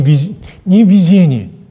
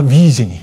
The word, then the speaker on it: видение: Но вы только одно произношение, это как сказать, это ударение, ошибочно произнесла. Да, не видение, а видение, да.